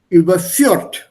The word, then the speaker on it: überführt: So we'll simply say überführt. Right? That's what we'll say here. Der Staatsanwalt hat den Zeugen des Meineides überführt. Also stress is on the second one.